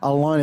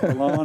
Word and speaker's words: Allain: Allain, it's a French name, yes. Allain and Jean-Paul, you know what I'm saying? Right. That's right. Thank you very much for pronouncing it like that.